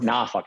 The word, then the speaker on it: Norfolk: um uss wisconsin in norfolk virginia or norfolk as they say it there um you learn all